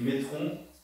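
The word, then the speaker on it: μέτρον: Ça s'écrit métron, ça se prononce métron, M-E-T-R-O-N, métron.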